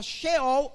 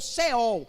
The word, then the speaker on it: Sheol: Você pode encontrar Hades também, você vai encontrar no hebraico a palavra Sheol ou Seol. As duas pronúncias estão certas, porque você pode botar o H ou tirar o H.